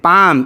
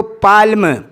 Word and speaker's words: palm: वैसे ही पाम, PALM, पाम, इसमें L silent रहता है, पढ़ा नहीं जाता, जिसका माना हथेली के है, लेकिन कुछ लोग उसको पाल्म, पाल्म पढ़ते हैं।